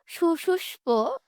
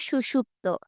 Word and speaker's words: সুষুপ্ত: দৃষ্টি দেখে শোভিত পুরুষের সুপুষ্প সুপুষ্প পারছি না বলতে আদলে মোহে ডুবে গেছে। আসলে ওটা আমি উচ্চারণ করতে পারছি না। আসলে ওটার উচ্চারণ হবে সুষুপ্ত।